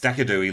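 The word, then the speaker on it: Decidueye: Yes, it did change into a ghost type with Dekidui. Thank you, Nightbot. Yes, Decadooey, Luke. That's how we pronounce it. I call it Decadooey because it's fun to say.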